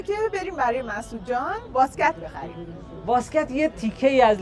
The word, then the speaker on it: واسکت: بریم بیشتر دربارش بدونیم تلفظ اصلیشم اینجوریه واسکت واسکت اون طی آخرش یه جورایی یه حرف تا میذارن طی دسته دار میذارن بهتون نشون میدم که یه باید یه جوری زبونو بچسبونید بالای دندونای بالا ادا کنید اینو